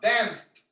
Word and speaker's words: danced: dance and you can feel free to make that t sound danced okay number eight what